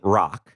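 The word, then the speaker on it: Roch: realized this church is the church of saint rock and i should by the way uh let you know rock is spelled r-o-c-h if you want to do some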